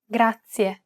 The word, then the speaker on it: grazie: This word uses the rolled R sound. Grazie. To pronounce this sound, place the tip of your tongue on the gum ridge behind your upper teeth, just like you do when you want to say the English D sound.